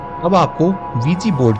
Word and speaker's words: Ouija: होती हैं अब आपको वीजी बोर्ड की सच्चाई के बारे में बताते हैं असल में इसकी स्पेलिंग ओवी आई जे ए होती है लेकिन इसे पढ़ा वी जीी जाता है इसका प्रयोग एक अंधेरे